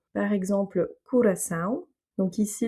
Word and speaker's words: Curaçao: Donc ici, l'accent tonique se fait sur le A puisqu'il contient un tilde, c'est le son nasal AO. Et donc le O qui se trouve plus en avant dans le mot va se prononcer OU. Curaçao.